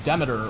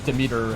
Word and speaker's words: Demeter: So when the time came, the final Olympian that we added was Demeter, or we pronounce it that way, Demeter, however you prefer to pronounce her name.